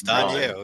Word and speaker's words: Danielle: mean, look at the spelling. It's Danielle. It's simple. Gotcha. Yeah, exactly how it's spelled.